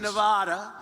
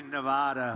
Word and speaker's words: Nevada: It has to be Nevada. Nevada.